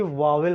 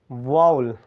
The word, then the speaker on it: vowel: ठीक, हम इसे जनरली वावेल पढ़ते हैं, इसका सटीक प्रोनाउंसिएशन होगा वाउल।